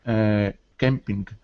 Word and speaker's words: campaign: So we actually say campaign.